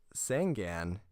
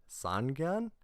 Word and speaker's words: Sangan: today years old so sangan as i used to call it should be pronounced sangan like the number three and then gone means eyes so this guy is